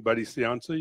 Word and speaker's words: Buddy Cianci: Cianci is how do you say his name Buddy Cianci you know so what was he like I have a picture of Buddy Cianci in my office and briefly who he is